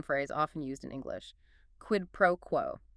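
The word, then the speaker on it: quid pro quo: Quidd proquo. Q UI D P R O UO quid proquo like q ue pro qo stress on the first and last words generally yes qed pro qu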